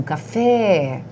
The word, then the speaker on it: café: Então, café, a sílaba tônica é o fé.